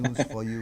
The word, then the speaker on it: News5: And Damien will always correct me on how I need to pronounce News5. News for you, he says News5.